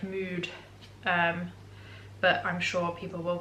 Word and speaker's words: Muud: I think that's how you pronounce it, because I think they're a Danish brand. So I think it's like Mood, but I'm sure people